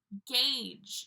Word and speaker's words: gauge: Gauge. Yeah, there's a U there, but we're not pronouncing that.